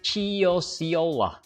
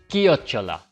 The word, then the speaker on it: chiocciola: you're just a beginner, you're likely to say Ciociola. Now, you might have to type that word into ChatGPT because even ChatGPT might not understand your broken Italian. Then ChatGPT can reply back with an audio of that word. Certo, ascoltane chiocciola. And we'll learn that it's pronounced as chiocciola, which means snail.